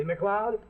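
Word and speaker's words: MacLeod: name like mine see McLeod sounds like Club that's spelled m-a-c-l-e-od well this is Bantry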